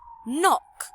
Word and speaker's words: knock: Number 12, another silent K. Knock.